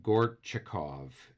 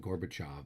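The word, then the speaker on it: Gorchakov: it correctly but uh gort chikov is the leader there we've been calling him gorbachev but it's gortchikov um is the leader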